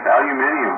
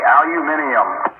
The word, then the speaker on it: aluminium: Well, that's how they say it in the UK. Aluminium. They even spell it that way, too. That's because that's what it really supposed to be. Yeah, cuz you know us lazy Americans, we like to uh you know, drop syllables and stuff.